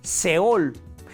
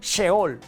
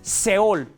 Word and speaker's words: seol: Se dice seol. En algunas traducciones se lee como sheol, pero bueno, es seol.